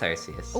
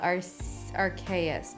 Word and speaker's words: Arceus: very long time yes pokemon uh pronunciation under dispute arceus or archais it's it's arceus when i first looked at it i would have thought our chaos but i'm sure the